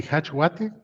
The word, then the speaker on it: jachLog: In Spanish, I say hachwate.